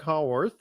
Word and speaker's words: Haworth: Now, today we do have a special guest, Haworth. Did I pronounce that correctly? Yeah, that's good. Haworth, yeah.